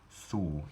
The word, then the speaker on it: thou: Thou would have been pronounced thu in Old English, which is cognate with the German word du, so a sentence in